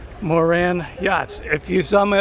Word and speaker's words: Moran: Moran, I never know how to pronounce it. I was saying moron. Moran Yachts.